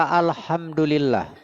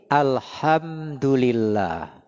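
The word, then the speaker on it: الحمد لله: Karena kalau dalam kaidah bahasa Arab, alhamdulillah itu H-nya pakai H kecil ditenggorokan keluarnya. Jadi, alhamdulillah bukan alhamdulillah bukan salah. Apalagi dibesar-besarkan. Alhamdulillah. Ah, itu salah besar itu.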